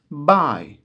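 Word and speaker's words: buy: Biraz sonra karşımıza çıkar Bu kelimede bay Bu Değil arkadaşlar bayi olarak okunur bu olarak yazılır satın almak bye satmak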